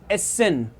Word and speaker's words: Essen: ठीक है, ESSEN, एसेन। साथ साथ में आप प्रोनाउंस करते चलो एसेन, और इन सारी चीजों को लिखते भी चलो एसेन।